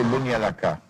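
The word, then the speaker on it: Banja Luka: and perhaps also to Bunyalaka. That's how it's pronounced, Bunyalaka, in Bosnia.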